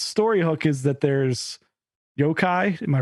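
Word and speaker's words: 妖怪: also it's it's story Hook is that there's Yokai am I pronouncing that right yeah the monsters the traditional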